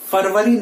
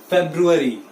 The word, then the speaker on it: February: हम ज्यादातर इसे फरवरी बोलते हैं, बट इट इज नॉट फरवरी, इट्स फेब्रुअरी, फेब्रवरी भी नहीं है, इट्स फेब्रुअरी। ना फरवरी बोलिए ना फेब्रुअरी बोलिए, the right pronunciation is फेब्रुअरी।